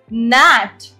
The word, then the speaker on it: gnat: Next is gnat. Gnat. G is silent.